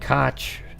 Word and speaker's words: Koch: don't know that doesn't K doesn't sound like cook to me now if their family pronounces it that way then sure but that's how mayor Ed cotch pronounced his name same spelling yeah it